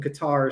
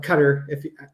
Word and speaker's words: Qatar: We're talking about Trump's new information coming to light on Trump's new Air Force One from Qatar, so or Qatar, depending on how you want to pronounce it.